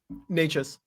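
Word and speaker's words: Nečas: Is it Necas? Necas.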